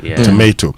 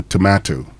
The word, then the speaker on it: tomato: But the O at the end um is not pronounced as how we would say O and leave it. So tomato to to that's how you pronounce it.